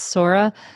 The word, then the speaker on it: Sora: my daughter's name is Sora and we always say like Nora with an S yes people get it